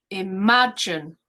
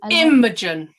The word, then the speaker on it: imagine: you're saying it correct you're saying imagine so can you hear the second the second syllable otherwise it would be imogen it's not immediate i'll